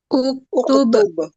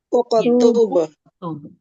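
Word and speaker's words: اكتب: Yang pertama ini ada hamzah wasl bertemu kaf bertemu ta bertemu ba. Ini cara bacanya gimana? Uqtub. Uqtub. Ya, karena di sini huruf yang ketiganya adalah domah.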